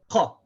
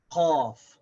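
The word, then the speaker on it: قاف: This is qa. It's very sharp. And the way that we pronounce this is that it comes from back here. Qa. Qa. Just above the back of the throat. Qaf.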